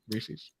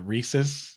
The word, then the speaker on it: Reese's: Reese's? Is that what you guys say? Like it rhymes with pieces.